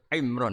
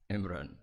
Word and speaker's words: Imran: Dari sana Bugis Imran, jadi orang sana nggak pakai ro. Kalau orang ro, jadi pakai ra. Kalau ainnya? Ain pakai ain. Berarti apa? Imron gitu. Ya kalau sana tulisan KTP Imran. Apa bacanya orang-orang Sulawesi? Apa? Imran.